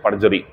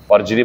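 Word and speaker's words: perjury: यह जो होता है इसे बोलते हैं पजरी पजरी बोलते हैं इसे आर साइ पजरी पढ़ते पजरी आर साइलेंट होता है इसका बच्चों एंटोनी में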